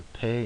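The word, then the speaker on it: פ: will be the pay so the doish in the middle it will have the pronunciation equivalent to the English P without the doish it is the Fay and the Fay is the equivalent of the English F and as a general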